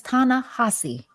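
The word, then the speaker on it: Ta-Nehisi: name aana hessie Co how how you say it that man name is tanassi oh tanassi thank you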